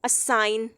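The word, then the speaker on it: assign: असाइन, अब हम जी को नहीं इसमें बोल रहे हैं।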